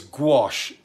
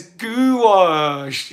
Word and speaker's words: gouache: It's gouache, wash with a G. Yeah, Heather says gouache. Yeah, gouache is better.